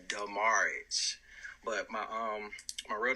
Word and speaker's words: Demaridge: get this straight first the pronunciation is demurrage but my um my